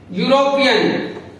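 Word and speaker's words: European: है वो वोवल है, लेकिन जब हम इसको प्रोनाउंस करते हैं तो इसकी जो साउंड है वो ये से निकलती है, ये यूरोपियन।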